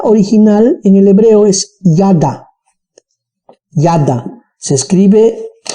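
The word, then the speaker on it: yada: pero la palabra original en el hebreo es nada nada se escribe y a guión de ha hecho h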